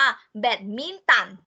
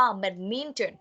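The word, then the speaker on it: badminton: ค่ะ แบดมินตัน เดอะมิน เจอร์ ไม่ ออก เสียง ว่า แบดมินตัน ไม่ ออก เสียง นี้ นะ คะ อ่า ออก เสียง ผิด เรา ต้อง ออก เสียง ว่า แบบ นิ่ง เจิ้น The minimal แปล ว่า กีฬา อะไร คะ กีฬา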